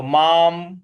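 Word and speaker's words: माम्: पूरा पढ़ेंगे यो माम म के ऊपर जो अनुस्वार है उसका भी उच्चारण हमें म ही ले आना है तो माम इस प्रकार से हो जाएगा तो श्रद्धावान भजते यो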